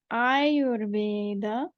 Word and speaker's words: Ayurveda: And the word Ayurveda actually is spelled with a long A. And when you hear me pronounce it, Ayurveda, you can almost hear 2 beats, 1 beat, 2 beats, 1 beat.